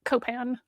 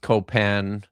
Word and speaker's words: Copan: It's spelled Copain, but Copan. Like, because it sounds vaguely French.